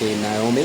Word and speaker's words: Nahomi: That is Parque Naomi or Parque Naomi, if you want to say it like a tico.